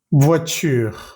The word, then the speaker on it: voiture: Voy a leer estas palabras lentamente y vas a fijarte que nunca pronuncio la E al final de estas palabras. Table, voiture, pomme, livre, porte, chaise, école, femme, plage, lampe, étoile, planète, lune, rivière, montagne, neige, vague, feuille. En ninguna de estas palabras pronuncié la última E.